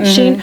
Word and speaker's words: Shein: living in like I've never bought anything from Shein, but I've seen the Shein stuff at Goodwill. Is that how you say it? Shein, right? Shein.